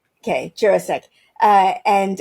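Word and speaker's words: Jurasik: You say jurisk. Okay. Jurissk.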